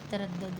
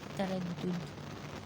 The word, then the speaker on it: تردد: یہ ہے تردد. ٹھیک ہے تردد نہیں ہوتا تردد.